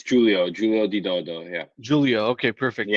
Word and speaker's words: Giulio di Dodo: Let me ask you, how do you pronounce your name, just so I'm not butchering it? It's Giulio di Dodo.